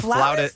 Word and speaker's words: flautist: A It's a flautist? flautist. A Really? flautist is a flute player. Yes. Why is it not pronounced flutist if No.